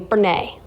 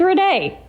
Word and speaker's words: Renee: Now, our friend Willie, and it's funny, my twin kind of does this in a sense, but he'll say her name Brene. My twin says Benet. But it's Renee.